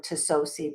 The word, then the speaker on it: Tsosie: by Lucy Lou Tsosie, or Tsosie, but the T is silent.